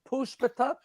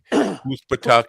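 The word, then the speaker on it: Poospatuck: Spell that. Puspatuk. Poos, P-O-O-S-P-A-T-U-C-K. Puspatuk.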